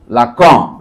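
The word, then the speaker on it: Lacan: বাংলায় উচ্চারণ করলে আমরা এভাবে লিখি। আকার দিয়ে লিখি বটে। কিন্তু এটা উচ্চারণটা এরকম হয়। লাক।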